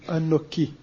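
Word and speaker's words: אנכי: e usada por Deus H duas maneiras de se pronunciar a palavra eu no hebraico Ani e anoki anoki é a forma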